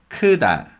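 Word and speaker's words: 크다: a vowel so and because tiger comes after a vowel sound it becomes a voiced d sound so it's kuda kuda kuda the next word is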